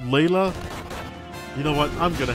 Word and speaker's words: Leila: Oh, I think her name is supposed to be pronounced Leila. You know what? I'm gonna have a look. Leila, FF2. Rest, what's the kanji? No, her katakana is Reira. So it is Leila.